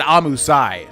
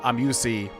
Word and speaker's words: Amusei: Okay, so he said Amusai. So even though I've always pronounced him Amusei or Amusei, Amusai, I got to remember that because I mean he would know.